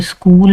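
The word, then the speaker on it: school: इसी तरह सी और एच की जगह आपने के प्रोनाउंस करना है। ग्रीक बेस्ड वर्ड है ये। यानी कि सीएच लिखते हैं लेकिन इसको इंग्लिश प्रोनाउंसिएशन में इसको के प्रोनाउंस किया जाता है। जैसे स्कूल में ये सीएच को के प्रोनाउंस किया जाता है। ठीक है? केमिस्ट्री है तो इसमें के प्रोनाउंस हो रहा है।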